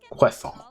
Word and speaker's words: croissant: That's a great way to spell it. Q-U-A-S-S-A-N. That's how they pronounce it, basically. Although there'd be an accent over the last A. Croissant.